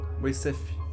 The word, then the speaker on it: Moiseyev: no Google né Tradutor como é que pronunciava o nome dele é Ivan Ian mo falando errado vendo mas agora estou falando certo vamos orar gente espero